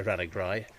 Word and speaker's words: Ranagri: So Ranagri has been anglicised as Rathnagru, which is fort of the hare in Gaelic. A Ra and a Guria being a hare. And over time, the locals would say Ranagri.